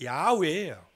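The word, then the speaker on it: 야훼: 원래는 이제 여호와보다는 정확한 발음이 야외예요.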